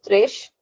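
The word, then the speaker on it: três: So three is thresh. You have to remember that it is thresh and is very important because going forward we'll learn a similar word which is similar but the word is actually different. So we have to remember that this one is thresh.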